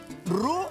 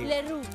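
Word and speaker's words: roux: Okay en cocina francesa se le conoce ru a la mezcla de mantequilla y harina que se cocina hasta dorarse leru exactamente se escribe r señora r para que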